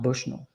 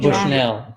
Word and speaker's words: Bushnell: It's pronounced Bushnull. Not Bushell.